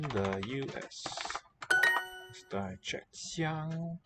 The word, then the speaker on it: 香: 纽纽香 Xiang, that occurs in the name of Hong Kong. First syllable.